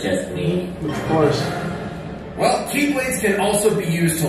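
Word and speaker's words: χ-blade: means the X blade it's just pronounced like keyblade even though it's just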